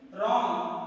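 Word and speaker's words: wrong: रॉन्ग, इसमें देखो W silent है, डब्ल्यू का तो प्रोनाउंसिएशन हो ही नहीं रहा है।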